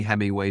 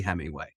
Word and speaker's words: Hemingway: Hemi way without any I like how you a Hemi way not the hemway yeah yeah although it's